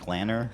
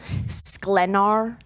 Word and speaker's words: Sklenar: I just looked up how to pronounce it. Sklenar. Sklenar. S-K-L-E-A. Oh, God. S-K-L-E-N-E-R.